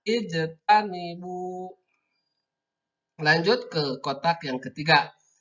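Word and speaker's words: اجتنبوا: Karena ini dipotong-potong maka membacanya ijtanibu seperti itu. Tidak ujutan atau ajtanibu, tidak seperti itu, tapi ijtanibu.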